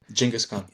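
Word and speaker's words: Genghis Khan: Ah, I noticed I have to say I noticed you even said Genghaskhan's name the way that I think it's supposed to be pronounced, which is you say it again. Jenaskhan.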